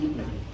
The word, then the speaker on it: Sputnik: Okay, because that's what the Russians pronounce it, Sputnik.